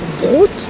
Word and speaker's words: Brot: Tu peux dire ich möchte ein Brot. Brot. Brot, c'est le pain. Ça s'écrit B-R-O-T? Oui. Ah d'accord, parce que s'il y avait un H à la fin, ça fait comme broth.